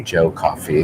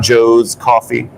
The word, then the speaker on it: Joe Coffee: also PSA you guys it's his Joe singular coffee Joe coffee it's not Joe's coffee so can you call